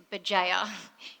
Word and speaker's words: Bugeja: going to stop talking the way you pronounce my last name is BA if anyone was wondering